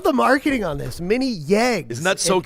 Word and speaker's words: Yeg: Mini Yegs. If you're not hearing Ryan pronounce it, it's like Y E G.